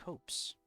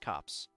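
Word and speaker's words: copse: looking around at the cops the hell's a copes and i spelt it wrong oh small group of trees cops or cops it's literally pronounced cops small group of trees okay she walks up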